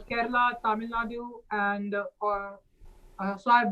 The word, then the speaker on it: Kerala: This is like in Kerala, What's Karola? the It's city. Kerala. Get, excuse me, Kerala. Yeah, you gotta pronounce the states right, okay?